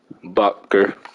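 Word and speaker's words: Butker: honey badger and then you got harrison buckster bucker that's how you say it and then tommy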